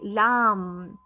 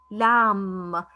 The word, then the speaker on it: lamb: consonants let us let letter b becomes silent so i say lam lam the ending sound is